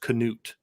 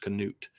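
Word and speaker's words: Knute: Now I have heard that his name is actually pronounced Canute. That's how they pronounce it in the movie. Right, but there was something that they did recently. Some Notre Dame production or some production actually said that it is pronounced Canute. Yeah, that's how Newt Rockne All-American. They pronounced it Canute.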